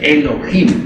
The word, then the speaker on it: Elohim: Eso significa Elohim o mejor dijéramos Elohim porque la H se pronuncia como J.